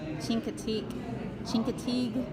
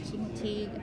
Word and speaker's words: Chincoteague: I am currently in Wallops, Virginia, at Chincoteague, I believe is how you say it, Chincoteague Island, at the Wallops facility.